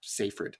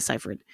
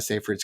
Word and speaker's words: Seyfried: I don't know why I wanted to say Seyfried. I think this is another one where people just decide how to pronounce her name and everyone says it differently. But I think it's Amanda Seyfried.